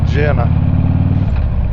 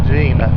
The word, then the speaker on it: Jena: we go back here through Jenna Gina excuse me Gina you ain't in Alabama